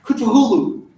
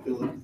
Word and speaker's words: Cthulhu: But yes, it is correctly pronounced Cthulhu. It is supposed to feel wrong on your mouth when you say it. Yeah. But it's also a lot of work, so I just call him Cthulhu, because everybody knows who I'm talking about.